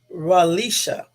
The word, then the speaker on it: Relisha: him it's gonna be ralisha ralisha Rudd and I'm saying her name correctly because other people pronounced her name Incorrect and then I guess